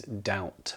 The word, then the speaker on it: doubt: on our list is doubt which is spelled with a B but again not pronounced with one so d o u